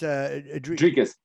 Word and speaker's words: Dricus: Dricus. Am I saying it right? It is probably pronounced Dricus. Okay, Dricus.